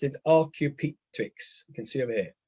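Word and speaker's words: Archaeopteryx: a creation right right um uh and it's pronounced in rq tweaks you can see over here right it's a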